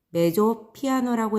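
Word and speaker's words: mezzo piano: 첫 번째, MP라고 써져 있죠? 메조 피아노라고 읽고요.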